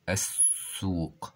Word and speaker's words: السوق: قليله مفرد كلمه الاسواق السوق السوق واللام هنا شمسيه لانها لا تنطق وينطق الحرف الذي بعدها مشددا الحرف المشدد كما نعرف